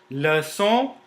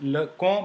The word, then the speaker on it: leçon: Leçon, it is not pronounced, you see, it is not pronounced le con, but leçon, because there is a cédille below c.